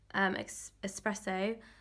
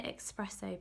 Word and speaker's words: espresso: light peach, nectar, henna, espresso. I don't know why I always want to say espresso, but it's espresso. I don't know why, I just want to say it wrong.